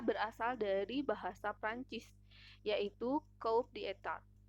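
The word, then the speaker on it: coup d'état: dari bahasa Perancis yaitu coup d'etat sebagai satu kalimat kedua kata tersebut pengucapannya adalah kudeta selanjutnya soal nomor 2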